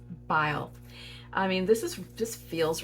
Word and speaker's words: Byl: I did look her up on YouTube, where she is speaking at an event to figure out how she pronounces her last name, and it's Byl.